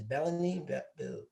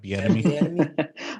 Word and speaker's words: Bieniemy: But then when you have a chance to hire the Chiefs offensive coordinator, is Bellamy? Bill Bellamy? No, it's Eric Bieniemy.